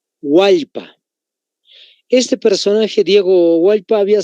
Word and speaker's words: Hualpa: Hualpa.